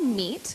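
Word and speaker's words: MEAET: The event is called MEAT, which is spelled M-E-A-E-T, and is about bringing together innovative ideas and people to collaborate in a meal setting.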